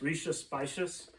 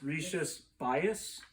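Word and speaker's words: Rías Baixas: before i went there i always pronounced this as the region as rishi spicious i swear on the bus trip it's rishi's bias so whatever you guys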